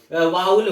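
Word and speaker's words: vowel: बट सब बोलते हैं वावेल वावेल, तो सब वावेल ही समझते हैं, बट इसका एक्चुअल जो करेक्ट प्रोनाउंसिएशन होता है वो वावेल होता है, वाउल होता है, वावेल नहीं होता, वो गलत है।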